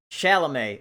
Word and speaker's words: Chalamet: can see that bumbler whatever he says chalamet chalamet okay that's how you say his name timothy chalamet is it